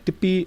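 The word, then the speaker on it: ਟਿੱਪੀ: let's begin so uh Tippy is our next vowel it's pronounced dippy and this is what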